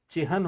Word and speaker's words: चिह्न: इसमें न पूरा होता है और ह आधा होता है, चिह्न। इसको हम प्रोनाउंसिएशन गलत करते हैं, चिन्ह नहीं होता, चिह्न होता है।